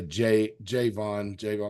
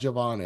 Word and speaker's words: Javon: When I see the name spelled like that, I tendency to say Javon, make it hard, but it's pronounced Javon Evans.